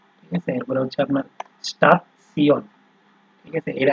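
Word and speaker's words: Station: স্টাফসিয়ন, ঠিক আছে, এরপরে হচ্ছে আপনার স্টাফসিয়ন, ঠিক আছে। এটা কিন্তু আমরা ওই যে নর্মালি আপনার হচ্ছে স্টেশন, ইংলিশে যখন আমরা পড়তাম, ঠিক আছে, স্টেশন আছে না, তো ওই বানানটা ওই রকমই, কিন্তু উচ্চারণটা হচ্ছে স্টাফসিয়ন।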